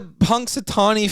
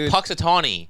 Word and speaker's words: Punxsutawney: don't know dude the Punxsutawney Phil bit I rehearsed it you rehearsed it you didn't say it correctly it's Punxsutawney I rehearsed it when